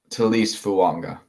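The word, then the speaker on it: Taliese Fuaga: Talise Fuanga.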